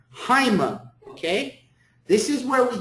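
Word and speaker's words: αἷμα: And it has a rough breathing in front of it. So how should we pronounce this word? Haima.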